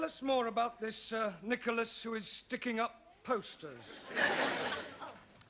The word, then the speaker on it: Nicholas: upon a times there was a man called nickel ass it's not quite right no no once upon a time there was a woman called Nicholas it's pronounced Nicholas so right once upon a time there was